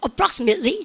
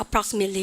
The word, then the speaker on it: approximately: 여러분들 approximately 되죠? 여러분들 해보세요. approximately 시작. approximately. Approximately 2 months. 알겠다. 그죠? 여러분들 그래서 우리가 그렇게 갑니다. 트 발음이 없어졌다. 미국이다.